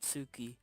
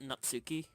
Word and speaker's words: Natsuki: like sorry and not Sookie said how you say it Natsuki not Sookie Natsuki ah well nice to